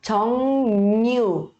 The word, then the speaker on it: 정류장: A gente vai pronunciar com som de N, tá? N de navio. E aí fica 정류장, 정류장, 정류장, 정류장, 정류장, 정류장, 버스 정류장.